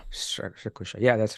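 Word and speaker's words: Strakosha: keeper whose name I can't pronounce or can't pronounce correctly stosa stosa stosa yeah that's correct sounds good but but but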